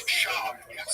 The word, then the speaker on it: Schaub: It's Schaub.